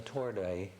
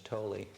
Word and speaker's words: Tordai: Now, you said that the family name had a different pronunciation in Hungarian. Which was it? The Tordai. Tordai. Yes, but in English it was Tolly.